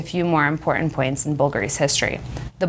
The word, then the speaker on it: BVLGARI: fool you though it's still pronounced bull gotti phonetically bulgari ceterio's two sons giorgio and constantino are so